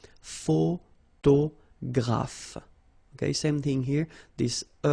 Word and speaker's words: photographe: So here PH and here PH, pronounce it like F, f, f, f. Photographe.